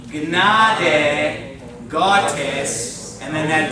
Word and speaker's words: Gnade: You pronounce the G and the N, okay? So let's say it together. O Gnade Gottes, and then that W is going to be like a V.